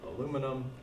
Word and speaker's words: aluminum: different so we'll have aluminum acetype okay and you will see okay that um I'm writing that and pronouncing it the old way the North American way you'll notice on your